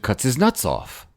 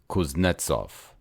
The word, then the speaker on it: Kuznetsov: Cuts his nuts off," I informed him. He stared at me, and without changing expression, corrected my pronunciation. "Kuznetsov," he said. "Cuts his dick off?"